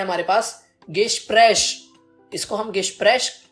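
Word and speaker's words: Gespräch: इसको हम गेस्प्रेश प्रोनाउंस करते हैं और इसको हम इंग्लिश में कहते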